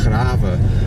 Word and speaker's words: Grave: So we're headed to Graven now, like I say. You spell that Grave, so basically like the word grave.